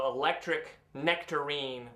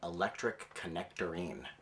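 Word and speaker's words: Electric Knectarine: We said let's just combine them also as an electric nectarine with a silent K. Unfortunately, people started pronouncing the band name Electric Connectorine.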